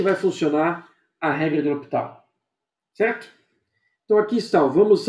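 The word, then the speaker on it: L'Hôpital: Regra de L'Hopital. Ou alguns acabam escrevendo assim L'Hopital, mas a pronúncia seria a mesma porque o S aqui no francês não se pronuncia.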